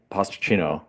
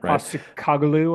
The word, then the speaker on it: Postecoglou: You have Ange Postacino. Uh, I'm not pronouncing that right? Postecoglou, I think is his name. Yeah, Postecoglou, yeah, yeah.